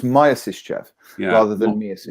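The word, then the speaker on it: Myasishchev: It's Mia Sischev? Is that Maya? That's what I said, wasn't it? Not Maya. It's pronounced Maya, not Maya. No, it's pronounced Maya, not Mia. Oh, so it's Maya Sischev rather than Mia Sischev.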